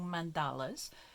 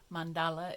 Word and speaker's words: mandala: working in circles making mandalas mandala is or I think it's more correctly pronounced mandala is um the Sanskrit word